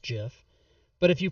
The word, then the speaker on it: GIF: no jafe egg because if you pronounce it gif you are wrong it's pronounced jiff but if you pronounce